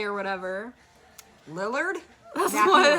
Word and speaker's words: Lillard: Lil Lay or whatever. Lillard?